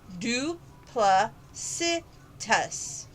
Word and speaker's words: duplicitous: source five duplicitous and it's an adjective pronounced do pla si tus is it a dishonest